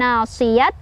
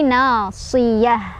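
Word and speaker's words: ناصية: Tak marbutoh berhenti jadi hak gede ya, bukan nasiyat tapi nasiyah ya. Dan lepasin ya, nggak panjang, bukan nasiyah tapi nasiyah.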